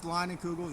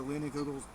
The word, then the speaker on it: Leinenkugel's: multiply that by seven this is Leinenkugels or leaning kugels depending how you want to pronounce it you can go